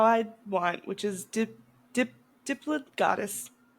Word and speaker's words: Diplodocus: Unless you say Diplodocus, because that is fucking wrong. It's Diplodocus. Thank you. I will say it how I want, which is Diplodocus. Diplodocus.